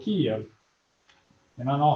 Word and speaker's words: Kyiv: So Kyiv, it's Kyiv, or in Ukrainian we say Kyiv.